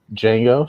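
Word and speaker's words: Django: seen uh the original D Jango so I'll go back to the future too I think it's a great continuation of the first movie do you guys know the D is silent it's crazy right oh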